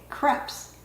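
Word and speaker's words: crêpe: making Crepes or is some people say creps but you know it's not crep paper that you string for a birthday party it's crepe paper so I think it's pronounced crepe but whatever it's pronounced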